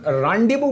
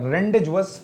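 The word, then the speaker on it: rendezvous: ध्यान रहे, इसको जो आप कहेंगे इसका प्रोनाउंसिएशन रांडीवू पढ़ा जाएगा, रेंडेजवस या रेंडूज नहीं पढ़ा जाएगा, ये ध्यान रखना।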